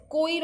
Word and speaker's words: choir: the group of singers will be called as choir of singers. Okay, CHOIR, the pronunciation is choir only.